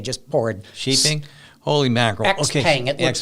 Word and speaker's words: Xpeng: Xpeng. It looks like, I think it's pronounced Xpeng or something like that.